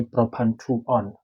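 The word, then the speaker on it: propan-2-one: or rather one but pronunciation of this one is like when you say you switch something on. So it's going to be propan to on.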